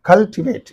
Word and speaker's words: cultivate: 1, 2, 3, third syllable. Complicate. Cultivate is there. 1, 2, 3. Cultivate.